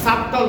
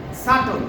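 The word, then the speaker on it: subtle: কিন্তু এখানে বি বি আছে, কিন্তু বি এর উচ্চারণটা আসবে না। কি হবে? ডাউট। তারপরে আরেকটা শব্দ দেখতে পাচ্ছি সাবটল না, সাটল।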